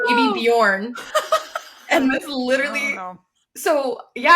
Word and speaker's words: Bjorn: I think it's pronounced Bjorn. Which, yes, correct. Because did you guys not immediately think of Baby Bjorn? That's all I could think of. It was Baby Bjorn.